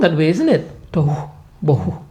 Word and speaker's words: tohu bohu: Tohu bohu, you know? If you soften the first syllable Yeah. Okay, it's like blowing air.